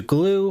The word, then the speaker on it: GLEW: Some other folks will point you to glue or other tutorials. Glue is spelled GLEW, all lowercase, but I like using glad here.